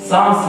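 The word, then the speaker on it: Psalms: verse 13 pumps साम्स का spelling मस्त है ना उसको कैसे प्रोनाउंस करते आप हां पम्स पम्स है क्या pumps साम्स okay साम्स 27 verse 13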